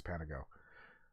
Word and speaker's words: Panago: Yeah, that was the response from my Calgarian friend was Panago, which I asked how to say it, and apparently it's Panago.